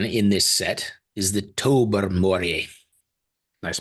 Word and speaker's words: Tobermory: The Burmery, is that what they call that? The Burmery? No, if you're from New England, you go to Tobermory.